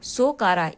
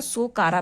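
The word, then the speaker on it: Sakhara: सोकारा। इसको T silent रहता है इसलिए इसको सोकारा पढ़ते हैं।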